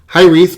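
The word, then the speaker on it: Hiraeth: It is pronounced Hyreth, by the way. I actually had to look up how to pronounce it. I'm an idiot when it comes to pronunciation. And it's a Welsh word, which means a feeling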